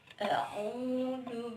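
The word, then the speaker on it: أعوذ: Ini dibacanya A, yang ini O. Jadi A-O ya, bukan A-U, tapi A-O ya. Karena ini A-Ain.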